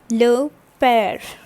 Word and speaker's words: père: This is accent grave. Okay, and this produce sounds like, this is basically accent grave, and this produces sound like eh. Alright, so the word becomes le père.